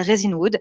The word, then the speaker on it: Resinwood: Pas raisin, parce que souvent, moi, je l'ai mal prononcé, mais ça s'appelle Resinwood.